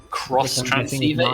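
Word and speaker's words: Xtransceiver: In Pokemon, in Pokemon Gen 5, the phone watch thing, The X transceiver. cross transceiver is how it's pronounced.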